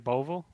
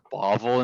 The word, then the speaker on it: Beauville: right but where is i think you may be one of the only people that has ever actually pronounced my last name right on the first try so i'm like like i've had people my entire life say like bobble and stuff like i'm